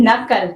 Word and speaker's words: knuckle: KNUCKLE, नकल।